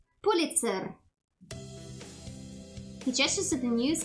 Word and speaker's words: Pulitzer: Pulitzer. Pulitza. Man, sounds weird. You're saying it well, but pronounce the e with uh with a bit longer than and a stronger R. Pulitzer.